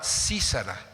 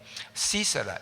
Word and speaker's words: Sísara: ejército contrario a Israel se llamaba sísara con acento en la i sisara y la mujer se